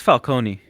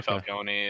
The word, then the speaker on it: Falcone: be the daughter of Carmine falcon or Falconi however you pronounce it I think that's awesome uh I think it's Falcone it's they say I think they said Falcone in the movie Sometimes they say Falconi it's it depends on how you feel that